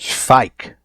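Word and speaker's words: Schweick: Schweik. That's how you say the guy's name who was murdered at the beginning. I never remember how to say his name, so thank you, Blind Emily, for teaching me again.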